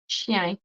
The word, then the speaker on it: chien: Actually, in French, chien is pronounced sh with the sh. Xian.